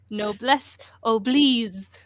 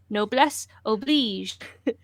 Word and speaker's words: Noblesse oblige: Noblesse oblige.